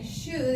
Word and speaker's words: should: de should se pronuncia should est nos cuesta trabajo should imagínense que es la o es muda y la l es muda entonces aquí Este lo